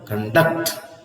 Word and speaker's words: conduct: contact see contact and here it is in the second syllable conduct conduct conduct So when you say